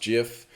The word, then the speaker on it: GIF: best worst case scenario the gif format pronounced jiff is is an option